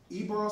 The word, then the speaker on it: Ybor: fire, it can be in the case of, Ybor City, is that how you say it? Ybor City, Ybor City up in Tampa?